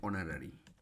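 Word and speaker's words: honorary: হবে হি ওয়াজ এন অনারি এন অনারি যখন এইচ এর উচ্চারণ ও এর মত হবে এট লাস্ট দা বিস্ট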